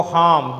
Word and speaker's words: harm: They do no harm. They do not harm. They do not make any harm. H-A-R-M. Pronunciation is a harm. Here is a R silent. H-A-R-M. Harm.